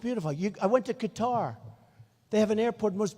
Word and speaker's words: Qatar: the airport in qatar which they say cutter i've always said qatar so what the hell